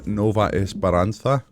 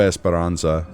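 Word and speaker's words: Nova Esperança: All right, welcome to chapter 7, Nova Esparansa. I don't know why I pronounced that like it was in mainland Spain. Nova Nova Esparansza is the stage.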